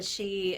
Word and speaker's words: Sidhe: The she, it's spelled Sidhe. It's Gaelic.